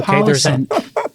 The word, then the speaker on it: Collison: Can you please say their name right? Collison, I said pronounce the goddamn I. Okay, Collison. I'm pronouncing the Irish.